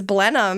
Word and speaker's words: Blenheim: thank you ohy well I didn't know how to pronounce it like months ago and you told me it was blenham and I was like